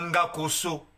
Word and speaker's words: Ngakoso: enlevé le N à Ngakoso. Si le N n'est plus sur le nom Ngakoso, ça se prononce plus Ngakoso. Akoso. Parce qu'en Congo, dans la langue Congo, on dit Ngakoso. avec N au début.